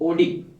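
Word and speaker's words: Oddi: गाड़ी के नाम पे है ना, बस गाड़ी के नाम की स्पेलिंग थोड़ी अलग है। इसको कहते हैं स्पिंक्चर ऑफ ओडी।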